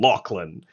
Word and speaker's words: Lachlan: But I think the didgeridoo bit is almost as offensive as his pronunciation of the name Lachlan.